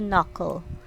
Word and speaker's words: knuckle: next one is knuckle we don't sound this letter the k the knuckle so it should be knuckle next is the right